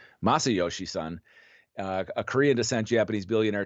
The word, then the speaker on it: Masayoshi Son: Sort of the oddity of the deal was Masayoshi Son. Actually, I didn't pronounce his name right. Masayoshi Son, a Korean descent Japanese billionaire tech entrepreneur who